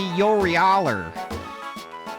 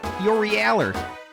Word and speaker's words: Yorialu: Yeah, if you're going to pronounce her name correctly, it has to be Yorieler. Yorieler.